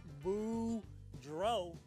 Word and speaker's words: Boudreau: see ya hey everybody my name is boudreau that's pronounced boo dro and i'm here to